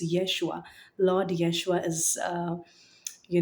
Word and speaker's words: Yeshua: Uh originally his name is pronounced as Yeshua. Uh it's it's it's Jesus's most a more anglicized version of his name. So it's Yeshua.